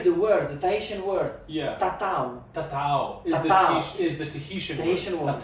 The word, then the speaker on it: tatau: and they hear the word, the Tahitian word, tatau. Tatau is the Tahitian word. Tatau. And it becomes tattoo because he cannot pronounce it correctly, so it becomes tattoo.